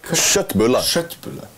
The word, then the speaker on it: Köttbullar: How are they pronounced correctly? Köttbullar.